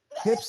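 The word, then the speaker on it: Huebsch: is spelled h-u-i-b-s and nobody knows how to pronounce it it's like a woman's hips is the way I say it hips and Speed Queen are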